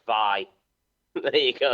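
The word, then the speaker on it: Wai: w a i why why but but it's pronounced V there you go it's pronounced V but it's w a i from going from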